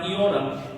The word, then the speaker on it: iota: Okay, so my professors told me to pronounce it like E, like machine, E. Okay, so iota is going to be E.